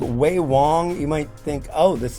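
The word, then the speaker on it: Ve Wong: This is from a company called Wei Wong. You might think, "Oh, this is cuz it's spelled V E space W N." These are pronounced as W's.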